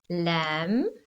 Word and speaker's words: lamb: b first now remember the silent b has a m before it so we've got thumb lamb crumb so i missed some